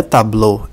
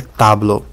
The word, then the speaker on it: tablo: está a vogal tônica tablo a vogal tônica está na sílaba ta na vogal a se se fosse na sílaba BL a pronúncia seria tabl mas não é tablô é tablo na palavra nen a